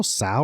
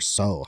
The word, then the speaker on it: Tso: Is it General Tso or So? How do you say it? I always say General Tso.